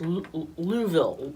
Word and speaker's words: Louisville: Sorry, I said it wrong. It's Louisville. Oh, Louisville. Louisville. Lerville? So yeah, something like that.